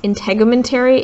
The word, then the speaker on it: integumentary: that are right here this one is pronounced integumentary if you were wondering